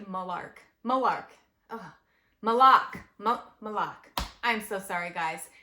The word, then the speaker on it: Moloch: malok malok malok Mok it's m o l o c h malok I heard him say it in the movie and it was pronounced malok so so the next one I watched was called malar M moar moar M Mok mik mik it was pronounced molok I am so sorry okay